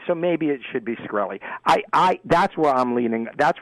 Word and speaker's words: Shkreli: The I can't even pronounce his name right. It's Shkreli.